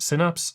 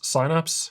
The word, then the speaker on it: Synapse: Synapse Signapse. It's pronounced differently in different regions.